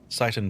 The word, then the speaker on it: Seitan: But I feel like just pronounced like Satan.